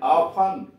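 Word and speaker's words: often: ओ एफ टी ई एन, ऑफन, प्राय। एस ओ एफ टी ई एन, सफन, कोमल करना। अब you silent देखिए, जी यू ए आर डी, गॉड, चौकीदार।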